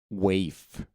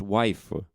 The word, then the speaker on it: waif: The word of the fortnight today is waif. W-A-I-F. It's a noun. It's not pronounced wife, so it's not that.